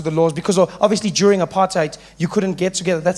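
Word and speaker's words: apartheid: laws because obviously during apartite you couldn't get together. That sounds nice. Doesn't apartite. Notice how we say it like that these days. Apartite sounds like something you got on your shoe.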